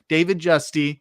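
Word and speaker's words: David Giusti: David Justy, that is how it's pronounced, had a 15-year career from 1962 to 77 with the Houston Colt 45s.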